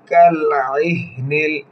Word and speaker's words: كالعهن: টান হবে ওয়াতাকুনুল জিবালু কালইহনিল আইন হলকের মধ্যখান থেকে উচ্চারণ হবে কিভাবে উচ্চারণ করে খেয়াল